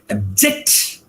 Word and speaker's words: abject: When I say object, it means one thing, but when I say abject, it means another thing, right?